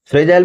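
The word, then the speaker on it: fragile: आसानी से टूटने वाला फ्रेजल में एक वर्ड जुपा है फर्जी ए एफ आर ए जी आई फर्जी और एली मतलब ले आप इसको फर्जी पढ़े तो फ्रेजल इसको सही प्रोनाउंस फ्रेजा इल होगा लेकिन आप पढ़े इसको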